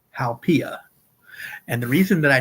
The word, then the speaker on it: haupia: one is Hawaii's dessert, and it is called haupia.